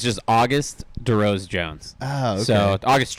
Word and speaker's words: Auguste: I was like, is it Auguste? No, it is. It's just Auguste DeRose-Jones.